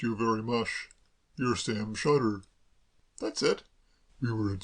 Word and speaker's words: Shotter: Sam Sotter? If you prefer it that way, certainly. I've always pronounced it Sam Shutter myself.